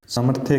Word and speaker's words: सामर्थ्य: अब जैसे ये सामर्थ्य है, सामर्थ्य के अंदर ये आपको वर्ड है वो तोड़ के दिखाया, जैसे सा मैं और आधा रे सामर्थ्य। इसमें ये जो रे है ना, ये देखो ये इसके ऊपर आया है, ये आधा रे यहाँ पे है, इसका स्थान यहाँ पे है, ये उच्चारण करते समय यहाँ पे बोला जाएगा।